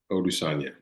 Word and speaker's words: Odusanya: how do you say your last name? Odusanya. Odusanya. Odusanya is a husband, father, integrative transformation guide.